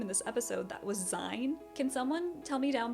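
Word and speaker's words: Sein: But I think his name is actually pronounced Zin, in which case I'm so sorry for the pronunciation.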